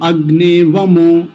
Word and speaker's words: अग्नेऽवमो: अग्ने अब ये देखिए अवामो जब उच्चारण करेंगे मंत्र का एक श्रुति में तब तो इसको वमो बोलेंगे अगने वमो एक साथ लेकिन अब जब इसका